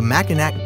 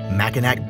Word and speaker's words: Mackinac: this is the Macan act bridge pronounced mechanic's bridge the only reason I